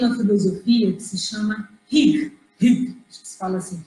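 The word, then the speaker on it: hygge: Por outro lado, eles têm uma filosofia que se chama Hig, acho que se fala assim, Hig.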